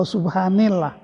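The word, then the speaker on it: سبحان الله: dalam fi'il yang manshub ini bukan Subhanallah atau Subhanallah Tapi bacanya Subhanallah sebab ada fi'il yang dilesapkan yaitu kata-kata usah bihu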